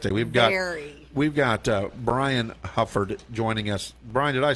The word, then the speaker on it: Hufford: We've got Brian Hufford joining us.